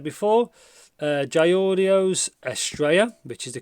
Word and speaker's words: Estrella: So like I said before, Jay Audio's Estrella, which is the correct pronunciation.